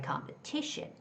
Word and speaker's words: competition: So, anything Any word that ends with t i o n, the stress comes in front of t i o n. So, it's got to be competition. Competition.